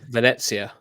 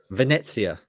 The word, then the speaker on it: Venezia: What's the correct pronunciation? Venezia. Venezia.